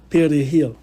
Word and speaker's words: perejil: à un individu de prononcer le mot espagnol perejil, qui veut dire persil. Si l'individu n'était pas à même de rouler le R comme un Dominicain, la peine de mort lui était octroyée illico.